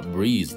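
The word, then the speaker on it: breeze: もんねええよいしょ読み方はブリーズですブリーズ最後濁るでえっと目これどし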